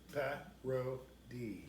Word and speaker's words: parity: 3 syllables. Parody.